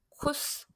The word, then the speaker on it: Kuss: 얘는 S가 두 개 나란히 나오면 S하고 똑같은 발음이에요.